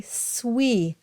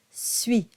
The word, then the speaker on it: suis: Make sure you don't say suis. It's not oui. It's ui, suis.